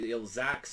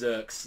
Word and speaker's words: Zerx: Like, it was kind of, like, weird for a while where it's, like, Zax or Zeeks, and it was like, no, it's Zerx, like, now, from, like, the official, like, from the volume that just came out with him in it, that's how you pronounce it.